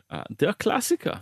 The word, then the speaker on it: Der Klassiker: Oh, how do the locals pronounce that, James? Der Klassiker.